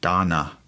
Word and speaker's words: dana: uh there's a word it's uh donna it's spelled like dana d-a-n-a that's donna and um basically the